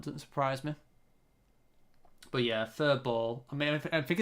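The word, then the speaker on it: Faribault: That I guess the U is like a W. Furball. And the LT doesn't really make a sound.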